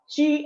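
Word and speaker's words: qi: Chi, and we write here in Chinese, we write it as qui.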